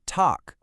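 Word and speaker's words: Tag: That g at the end is going to sound like a ca. So, we say talk.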